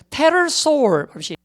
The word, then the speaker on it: pterosaur: 익룡은 이제 여러분 우리가 이 P 발음이 원래는 안 돼요. 묵음이 돼야 됩니다. 그래서 pterosaur pterosaur입니다.